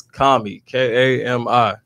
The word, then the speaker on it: Kami: How you pronounce it? Say it for it. It's Kami, Kami. Kami Ford. Bet. Now listen, I wanted you to say it and not me say it, because listen, we argued about it before you got here for like 15 minutes, like all day on the phone. You said it right.